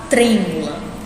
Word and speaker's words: trêmula: Aqui nós temos a palavra trêmula, tá? De novo, vamos procurar primeiro a sílaba tônica. Trêmula. Qual foi a que eu pronunciei com mais força? Foi o tre, né?